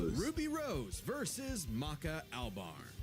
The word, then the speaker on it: Maka: Ruby Rose and not that Ruby Rose versus Ma Ma Maka Alb Maka Maka Albar, how the you say her name?